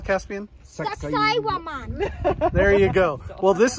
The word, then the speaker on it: Saqsaywaman: Saqsaywaman.